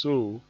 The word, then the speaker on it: so: F is pronounced fa, S is pronounced so, like as if you are sewing a piece of cloth, something like that.